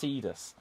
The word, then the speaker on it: Tidus: difference you are tidus oh sorry it's pronounced tidus um right here you